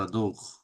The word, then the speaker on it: adorent: জাদক কেন subject les দেখবেন adorent সবসময় কারণ প্লুরাল আছে না তার থার্ড পারসন প্লুরাল দে তাই না ইল মানে দে তার মানে লাস্টের ওয়েনতে ভার্বের শেষে সাইলেন্ট থাকবে always qu'ils adorent জাদক la gastronomie গাস্থোনমি